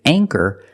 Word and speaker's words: anchor: with the long a with anchor the CH makes the CC sound so for that reason we pronounce the a with a long a sound aor anchor this is